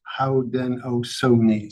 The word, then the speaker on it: Haudenosaunee: Haudenosaunee is pronounced Howden Ohsoni. So, I will next time get it right.